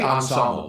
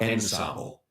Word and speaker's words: ensemble: It should be ensemble, not ensemble. How do you say it, Robin? Ensemble. Ensemble. It's ensemble. It's like on suite. It's like Nora on cure.